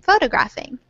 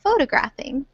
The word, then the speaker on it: photographing: Photographing. And so let's try to say it. Yeah, very good, with the syllable stress on that first syllable. Photographing.